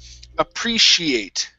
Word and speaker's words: appreciate: Next up, we have the word appreciate. Okay, so let's switch this S, or sorry, this C-I here. Okay, it's going to be an S-H sound. So it's appreciate.